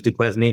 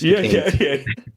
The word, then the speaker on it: Duquesne: Who's Duquesne? No, it's Duquesne.